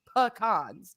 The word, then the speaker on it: pecan: So thank you for Googling the pronunciation of pecans because we got it now.